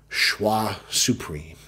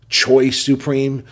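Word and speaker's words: Choix Supreme: el rey del mundo schwa supreme and yes in the past I said choice supreme but I have been corrected by my boy Anthony multiple times about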